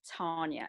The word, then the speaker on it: Tarnya: to interject and say my name is tanya it's got an r in there it's tanya t-a-r-n-y-a because there's a little slip that you keep calling me tanya okay and it's tanya